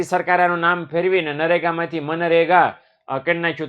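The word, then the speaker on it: MGNREGA: મગનરેગા. બરાબર. આપણે મગનરેગા થોડું બોલાય એટલે આપણે મનરેગા બોલવાનું. શું બોલવાનું છે? મનરેગા. જી સાયલન્ટ છે એવું સમજી લેજો.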